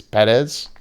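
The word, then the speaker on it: Pérez: I had a debate with somebody on how you pronounce it because I'm pretty sure with the accent symbol on the first E, it's Perez.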